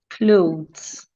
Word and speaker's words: clothes: second e is silent clothes the E is silent so let's practice these